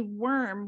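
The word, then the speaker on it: wyrm: the two front legs and he's called a worm which is a why it's it's spelled w-y-r-m but the interesting thing that got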